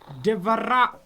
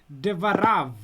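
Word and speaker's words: דְּבָרָיו: Devara. Devara. Give me the last consonant, the vet, divarav. Devarav.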